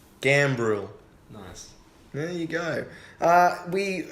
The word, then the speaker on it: Gambrill: I feel like you didn't pronounce the R. Gambrill.